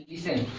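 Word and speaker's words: listen: आ जाए ठीक है तो इसमें टी का उच्चारण नहीं होगा टी इसमें टी क्या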